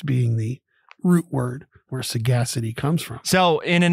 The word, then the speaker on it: sagacity: We're going to show some sagacity on this episode about the Ukraine. Sagacity is the word of the day, 4 syllables, S-A-G-A-C-I-T-Y.